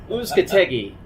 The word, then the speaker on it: Uzcategui: Uzcategui. I think that's how we pronounce it. Uzcategui. How do you say it, Jeff? Uzcategui.